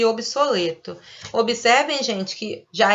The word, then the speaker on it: obsoleto: Segundo as normas gramaticais, a gente deveria pronunciar com E aberto. Obeso, coeso, obsoleto. Mas a gente não faz essa pronúncia, né? Segundo obras, né? Segundo escritores mais antigos, a gente deveria pronunciar com E aberto. Deveria ser obeso, coeso, obsoleto. Mas a gente fala obeso, coeso, obsoleto. A gente usa o E fechadinho.